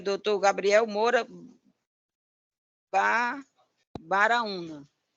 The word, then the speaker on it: Baraúna: Então, é doutor Gabriel Moura Baraúna. É como Graúna com B de bola.